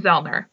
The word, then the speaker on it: Zoellner: You Love by Tom Zellner. And the last name is spelled Zoellner. So Tom is the co-author of An Ordinary Man, which is the autobiography of Paul Rusesabagina.